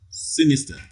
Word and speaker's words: sinister: 44 question 44 a sinister in sin is that the first syllable receives the primary stress sinister okay b religion religion